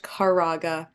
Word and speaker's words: Kwieraga: I'm known um but my last name is pronounced caraga yes very weird last